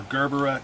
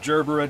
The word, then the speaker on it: gerbera: guys so these are gerber daisies or gerbera daisies depending how you pronounce it now when i got